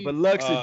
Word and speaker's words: Biloxi: Biloxi. Yeah, Biloxi, baby.